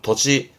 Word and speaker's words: 土地: 발음은 토지. 도지.